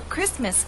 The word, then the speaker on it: Christmas: days away you know Christmas is one of those words in English that is written with a t but we don't pronounce it now many viewers have